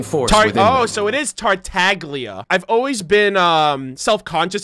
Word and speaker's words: Tartaglia: oh so it is tartaglia I've always been um self-conscious about pronouncing it cuz I've heard some people say tartaglia I've heard some people say Talia like the g is silent like lasagna oh it isn't the